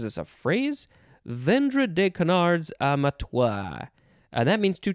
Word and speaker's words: canard: or cracker next is canard you could also take off the d sound and just say kanar c-a-n-a-r-d noun from 1851